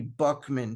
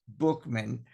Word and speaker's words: Buchman: Like, for one, they had a leader, Frank Bookman. This guy, and it's spelled Buchman, and I know that sounds like it could be Buckman, but it's pronounced Bookman.